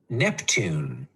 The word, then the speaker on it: Neptune: like my name neptune neptune neptune capital n e p t u n e capital because it's a name and the e is silent neptune nice job if